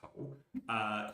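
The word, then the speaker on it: 口: Let's take the character for mouth, pronounced ko.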